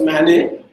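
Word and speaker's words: MANET: If you have heard this term, it's pronounced as MANE, mobile ad hoc networks.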